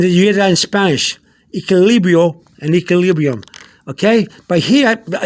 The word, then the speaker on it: equilibrio: Equilibrio, if you see the Q-U-I in Spanish, the Q-U-I, that's pronounced like a key. K-E-Y in English, like you find a key for the door, key, K-E-Y. So the Q-U-I in Spanish gets the key sound.